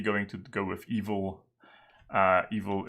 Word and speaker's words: eval: Evil is like eval, right? But you pronounce it evil because it is evil.